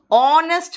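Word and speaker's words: honest: ऑनेस्ट मैन, ओ का pronunciation आ रहा है, एन ऑनेस्ट मैन।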